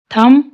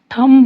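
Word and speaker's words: thumb: थम, इसमें भी बी साइलेंट, थंब नहीं बोलेंगे, थम।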